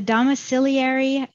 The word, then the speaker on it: domiciliary: um in the e m section so the domiciliary that's how you pronounce it our rest home CPT codes 99334